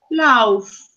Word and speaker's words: laugh: laugh. Laugh. But it's not lau. Lau no, it's la. Laugh. Laugh. Uh-huh. It's laugh. See, the GH is similar to the sound F in Spanish.